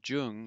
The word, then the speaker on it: Jung: everyone who says carl jung you know that hasn't had any german um but um so the j is already pronounced like a y a big difference um